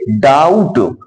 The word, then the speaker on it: doubt: इसी तरह से DOUBT है, तो टी के पहले बी आ गया तो बी हमारा उच्चारित तो नहीं होगा, इसको पढ़ेंगे डाउट। देखो DOU से डाउ बन गया, टी, डाउट, बी का उच्चारण इसमें नहीं किया गया।